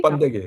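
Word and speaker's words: 번데기: I don't know how you pronounce it. Is it bundugi? Bandegi, yeah, Yeah, bandegi.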